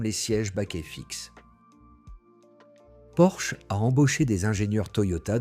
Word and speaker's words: Porsche: Le constructeur a publié des documents expliquant que le nom se prononce Porsche en deux syllabes.